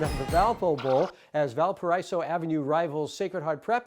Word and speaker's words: Valparaiso: We are back with the pandemic version of the Valpo Bowl as Valparaiso Avenue rivals Sacred Heart Prep and Menlo play their final football games for this season.